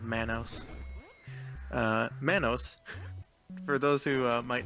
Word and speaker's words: Manos: a little more trivia Manos rhymes with Thanos and when Maya the